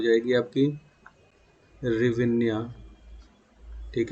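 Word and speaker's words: гривня: वो हो जाएगी आपकी रिविन्या। ठीक है, या जिसी को एस साइलेंट कर देता है, एस साइलेंट कर देता है तो रिविन्या दे देता है आपका ऑप्शन।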